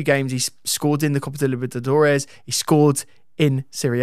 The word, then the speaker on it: Libertadores: Because he's played twice in the Copa Libertadores.